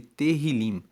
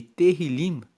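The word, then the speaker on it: Tehilim: No livro original, na Bíblia em hebraico, o livro de Salmos é chamado de terilim, que se escreve T E H I L I M. E terrilim significa justamente louvores.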